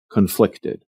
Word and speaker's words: conflict: Or we can just say that a person feels conflicted. And notice the different pronunciation between the noun conflict and the adjective conflicted. We stress the first syllable in the noun conflict, and we stress the second syllable in the adjective conflicted.